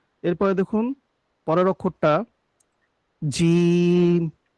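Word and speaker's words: جيم: এরপরে দেখুন পরের অক্ষরটা জিম। জিমটা হলো জিহ্বার যে মধ্যখানটা আছে ঠিক তার বরাবর উপরে তালুর সঙ্গে লেগে উচ্চারণ হবে, জিম।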